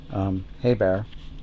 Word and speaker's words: Hebert: Bobby Hebert is the way they pronounce it.